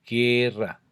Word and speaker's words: guerra: Normalmente la U es muda en las secuencias, por ejemplo, G, G, G de guerra, G de guitarra, ¿cierto? Porque ahí es como si leyéramos directamente la G y la E, guerra, o la G y la I, guitarra.